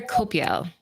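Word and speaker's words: Coipel: It's Olivier Copiel.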